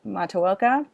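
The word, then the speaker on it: Matoaka: that her name is they say it correctly mataoka but they also changed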